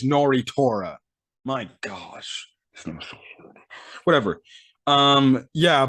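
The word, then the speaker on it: Nnoitra: watched somebody's video of how to pronounce the name it's nori torah my gosh whatever um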